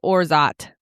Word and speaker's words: orgeat: Orgy. Orgy. We use orgy syrup for this. Orgeat. According to Google AI, which as we know is always correct, it says pronounced Orzat.